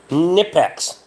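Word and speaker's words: Knipex: Nipex. You don't pronounce the fucking K any different than you would with a knife, in my opinion, so. K is silent.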